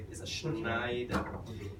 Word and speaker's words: Schneider: But the way Germans say it is a Schneider. It's an SCH. Take note in the German language, if you have an SCH, it's pronounced as a sh, just like she, right?